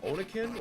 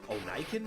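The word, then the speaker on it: Oniken: It's Onakin or Onikin maybe. O N I K E N.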